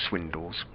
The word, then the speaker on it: Swindells: through to Harry swindall told it should be pronounced swindles by not by Harry himself instantly I think Swindell